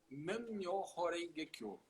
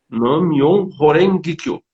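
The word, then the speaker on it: Nam-myoho-renge-kyo: Eu quero que você faça essa pronúncia devagar para as pessoas entenderem o que você está falando e por quê. Nam-myoho Renge Kyo. Nam-myoho Renge Kyo.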